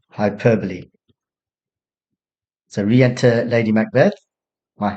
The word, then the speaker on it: hyperbole: Students often pronounce it hyperbole, hyperbole, but it's pronounced hyperbole.